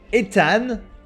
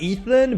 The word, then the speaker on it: Ethan: Ethan. Not Ethan, but Ethan in French. That's how we pronounce it.